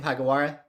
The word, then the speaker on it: Hagiwara: with me how do you say your last name pagawara are you are you got it perfectly oh nice I'm like